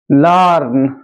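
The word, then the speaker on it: learn: লার্ন, এল ই এ আর এন, লার্ন।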